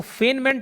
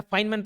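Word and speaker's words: Feynman: तीसरा इसको फेनमैन technique बोला जाता है। फेनमैन टेक्निक या फाइन मैन मैं फाइन मैन प्रोनाउंस करता हूं।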